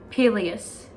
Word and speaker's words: Peleus: if that's right and the legendary king ah peleus yes that was the correct pronunciation it's strong swift and beautiful irresistible to